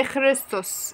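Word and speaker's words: ⲭⲣⲓⲥⲧⲟⲥ: تمام، كلمة اللي عليه يعني نشوفها، حرف الخاء كي قصدي وفي جنكم، بس ده ما جاش بعد حرف متحرك الكسر فيتنطق خ. بعديها الرو ر، بعديها اليوتا ي قصيره، بعديها السين مصين، بعديها داون حرف الطاف ت، بعديها هنا الاوميكرون او قصيره والسين مصين. تعالوا نشوفها بقى، اخريستوس اخريستوس إخريستوس يعني مسيح، مسيح يعني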